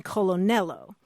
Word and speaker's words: Colonel: colon it's it's the the r kind of intrudes in there sometimes that would be